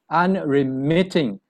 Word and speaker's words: unremitting: unremitting i like it the syllable is stressed on the third the stresses on the third syllable so it's unremitting and remitting the meaning of